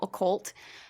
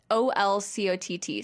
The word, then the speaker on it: Olcott: Which came out in 1881 by Henry Steele Occult, who said that... Was his last name Occult? Yeah, like Olcott. So it's like... Olcott.